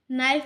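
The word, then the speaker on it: knife: नाइफ नाइफ में के silent हो जाएगा।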